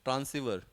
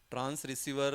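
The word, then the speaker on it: transceiver: ट्रांस क्या बोलोगे आप ट्रांसिवर ट्रांस रिसीवर वर नहीं ट्रांसीवर ट्रांस ट्रांस ट्रांसमिट करना और रिसीव करना ट्रांस रिसीवर आर आर are silent है आर नहीं ट्रांसवर है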